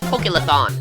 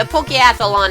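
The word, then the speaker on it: Pokéathlon: with an apology because I've been pronouncing this as pokeon so rip to like the 50 videos where I say that but anyway the pokeathlon is similar to the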